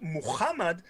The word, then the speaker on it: Muhammad: in the netherlands right the ha sound am i correct yeah yeah yeah in american english it's it's not it's not common so the americans can't